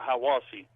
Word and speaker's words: Hiawassee: Hiawassee, we call it Hiawassee, but it looks like it would be pronounced Hiawassee.